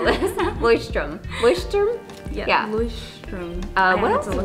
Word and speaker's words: Leuchtturm: Leuchtturm.